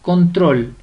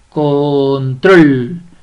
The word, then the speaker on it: control: en la última sílaba vamos con control control control donde lleva la mayor fuerza de voz muy bien en la última sílaba separemos control control es